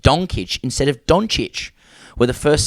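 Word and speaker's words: Dončić: Furthermore, Luka Doncic pronounced with a ch sound, not a k sound.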